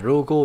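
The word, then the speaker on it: 老後: Đọc là rogo nhá. Lão là ro, âm Hán của nó này. Đây, ro này. Hậu thì là go.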